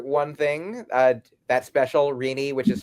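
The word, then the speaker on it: Rini: I will say uh uh so yeah, number one, if you only remember one thing uh that special Reinie, which is spelled R I N I.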